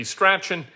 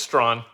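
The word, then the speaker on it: Strahan: name is spelled s-t-r-a-h-a-n you'd think that that'd be scratchin it's not it's strong of course uh let's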